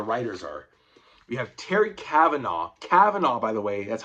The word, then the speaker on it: Kavanagh: He says it Kavanagh. That's wrong. I want to strangle him when he says that. It's Kavanagh, guys. Trust me.